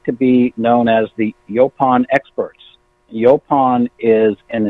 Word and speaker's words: Yaupon: pond wellness company and although there's no specific pronunciation we say yo pond but yo pound is a very common pronunciation that we get from people so we like Yelp on but it doesn't it's not just neither right or wrong our company is I